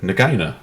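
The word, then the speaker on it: Nagaina: No, Nagina. Oh. Or Nagina.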